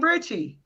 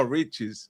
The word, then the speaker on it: Riches: King Richie. No, Riches.